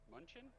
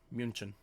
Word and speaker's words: München: Side note, everybody, in case anybody asks, these tickets came from Captain Munchin? München. Am I pronouncing Munchin? Go German with it. München.